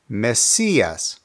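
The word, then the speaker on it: Mesías: meas means Messiah now because the accent is on the I the pronunciation is Messias Messias now we've gone over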